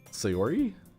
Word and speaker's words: Sayori: might draw to herself that girls oh god sayori yep yay back in the face for saying